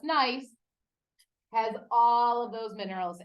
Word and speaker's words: gneiss: Okay, this is nice, not gneiss, just nice.